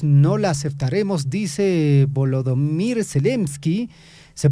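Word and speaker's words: Zelensky: negociación sin nosotros no la aceptaremos dice volodimir selsky se pronuncia así después de que Trump anunciara bueno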